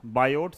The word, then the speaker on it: Biot: ये है हमारे पास बायोट सावर्स लॉ बायोट में टी जो होता है वो साइलेंट होता है तो बायो बोल सकते हैं बायो सावर्स लॉ ठीक है तो बायोट